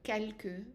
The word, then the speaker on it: quelque: So you notice that when you have QUE at the end, in some words, not all of them, then you will have to pronounce that E. So quelque, presque, de, me, que.